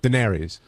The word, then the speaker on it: Daenerys: How do you pronounce it? Daenerys.